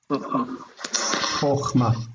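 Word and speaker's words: חָכְמָה: Okay, so this one is accented, this one is unaccented, and if it's unaccented, the vowel must be short. Okay, and if it's short, then this is not a, but o.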